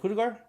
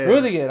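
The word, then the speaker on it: Rüdiger: when one of the players hit, was it Kudegar? When they made this, no, how do you say it? Rudiger.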